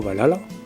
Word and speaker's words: Valhalla: Et donc dans ce fameux royaume d'Asgard, nous avons le Valhalla, connu sous le nom de Valhalla, mais en fait il faut plutôt le prononcer Valhall.